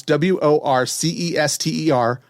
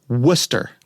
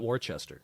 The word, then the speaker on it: Worcester: But in in Massachusetts, they pronounce W O R C E S T E R. Worcester. Right. It's not Warchester, right?